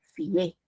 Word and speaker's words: fié: Ahí el acento ya no está en la I, está en la E.